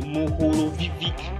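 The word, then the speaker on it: Mohorovičić: mantle is called the mohulovic discontinuity i had to cram that before pronouncing it's kind of close to the name of one of my favorite football player luka modric it is a croatian name after the seismologist that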